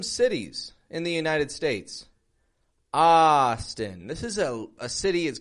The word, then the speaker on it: Austin: And notice again the contrast in the syllable stress. Austin, strong, weak.